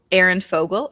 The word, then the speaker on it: Aerin Fogel: of the zodiac and I'm here today with Aaron Fogle am I always am I pronouncing this correctly yeah nailed it okay and